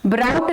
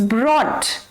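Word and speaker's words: brought: ब्राउट नहीं होता है, इट्स ब्रॉट।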